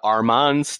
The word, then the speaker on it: Armand: One of my friends was like, "You're going over to Armand's to record this podcast," and I was like, "No, the D is silent. It's Armand. It's silent because it's not in his name."